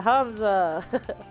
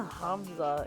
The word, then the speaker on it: Hamza: Yeah, Hamza. Uh, what's a Hamza? Is it a new kind of pizza? No. No. Hamza. The second H is implied. Different twists on the syllable.